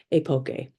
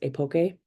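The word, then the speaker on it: epoché: researcher Mustakas explained as epoche, which is pronounced a number of ways: epoche, epoch, epoche. For my research, I will pronounce it as epoche. I found that pronunciation used the most.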